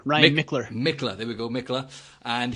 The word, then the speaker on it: Michler: Is that how I pronounce it right? The surname? Actually, Michler. Ryan Michler. Michler, there we go, Michler.